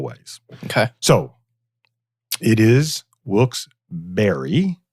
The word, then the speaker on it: Wilkes-Barré: So it is Wilkes-Barré. It's spelled Barre. So you get a berry.